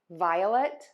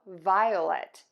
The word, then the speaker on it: violet: Another difference I hear is sometimes I hear people say a long o violet, violence, violent. So you have many options here. I do think saying two beats is always easiest: violet, violence, violent, but you do have options.